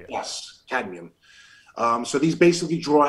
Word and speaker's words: cadmium: it also chelates lead arsenic and they think canadium if i'm pronouncing that correct yes cadmium um so these basically draw out and it